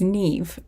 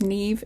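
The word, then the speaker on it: Niamh: know very very badly it is Neeve it is pronounced Neeve it's an Irish name now I know sorry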